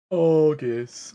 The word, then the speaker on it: Aegis: Like a hard G, like egg. Aegis.